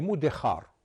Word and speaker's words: Mudéjar: On les appelait en espagnol les Mudéjar. Mudéjar est un mot qui vient de l'arabe al-mudajjanoun, al-mudajjan, les domestiqués. Seulement le J en espagnol se prononce ch.